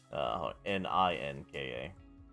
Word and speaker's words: Ninka: Ninka. Oh, N-I-N-K-A. Like ninja with a K instead.